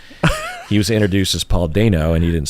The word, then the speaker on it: Dano: I also mispronounce Paul Dano is how you pronounce Paul, you know. It's Dano, not Dano? It's Dano, yeah.